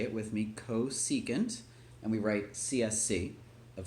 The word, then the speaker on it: cosecant: So when you're done pausing, the new stuff is, and it's pronounced, so say it with me, cosecant, and we write CSC of theta.